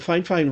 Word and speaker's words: Fifine: in at 14.6 ounces without the cord the fine fine weighs eight ounces without the cord so it's